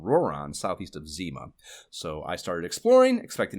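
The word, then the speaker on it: Zema: There is Zima. Phonetically just like the Crystal Pepsi of 90s malt beverages, but spelled with an E instead of an I.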